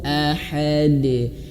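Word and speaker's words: أحد: Dan ingat, pantulan huruf dal itu jangan tertahan ya. Ahad, tidak, tapi langsung saja ahad.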